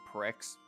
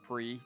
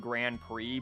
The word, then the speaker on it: Grand Prix: when they were younger thought that this was pronounced Pricks and not pre because that was definitely me yeah yeah I don't remember when I finally learned that that's pronounced Grand Prix but I remember pronouncing